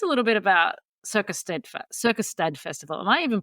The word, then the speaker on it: Circusstad: so tell us a little bit about Circus Circus stad Festival am I even pronouncing that right correct me if I'm wrong